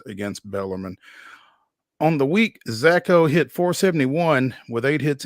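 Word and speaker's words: Szako: baseball Austin peas Brody zacho I guess the S is silent s z a KO hit four home runs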